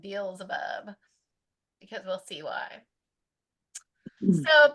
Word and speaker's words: Beelzebub: Beelzebub. That's how you say it, Beelzebub, because we'll see why.